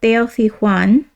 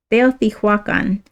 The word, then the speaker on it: Teotihuacan: The aim of Teotihuacan, it's Teotihuacan. Sorry, I was pronouncing that wrong.